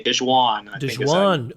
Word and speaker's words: DeJuan: I think it's a hard J. DeJuan Gordon.